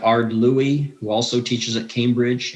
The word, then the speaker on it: Louis: um people like art louie who also teaches at cambridge a physicist that's l-o-u-i-s a-r-d is his first name l-o-u-i-s but it's pronounced louis people like aleister mcgrath